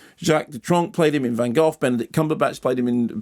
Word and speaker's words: Van Gogh: We established a couple of weeks ago that Van Gogh isn't pronounced Van Gogh, it's pronounced Van Gogh.